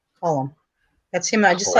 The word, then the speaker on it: Colm: Well, it's spelled Colm, not like Colin. Colum.